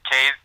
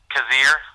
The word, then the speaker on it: Cazier: me works but like the name is cave cazier sorry I always say the name wrong beat obviously and